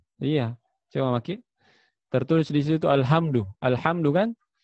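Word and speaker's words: الحمد لله: cuma makin tertulis disitu alhamdu lillah hamdu kan Tapi kita bacanya Salah al-hamdu lele bahaya al-hamdu lele pujian bagi Allah Alhamdulillah hal-hal akan kehancuran kamu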